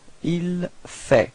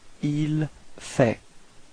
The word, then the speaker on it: il fait: So il fait. Same pronunciation, so final T is not pronounced. Il fait.